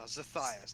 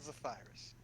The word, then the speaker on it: Zethias: No, Zethias, not Zephyrus.